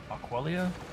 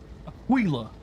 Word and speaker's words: Aquila: Aquelia, you know how that's pronounced?